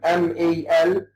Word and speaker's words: Malcolm: Malcolm, M-A-L-C-O-L-M, Malcolm. We don't pronounce the L before the final M. This is a rule in English. We say Malcolm, Lincoln, and what have you.